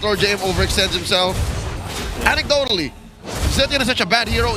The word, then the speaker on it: Zetian: Is that how you properly pronounce it? Zetian, yeah. Zetian.